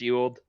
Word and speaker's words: Ewald: Yeah, it's pronounced Ewald.